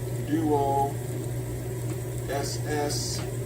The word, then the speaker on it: Duossal: You can see the other video on the unboxing of the Trangia 27 Duo SSAL, which stands for, I pronounce it Duossal, but it's just kind of their made-up word for it.